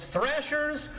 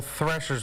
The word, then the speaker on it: Threshers: Is it old threshers? Old thrashers? How do you pronounce it? Cuz I've heard both and I told folks I would ask you guys live on the air to get the record set straight. So threshers with an E or for our HANA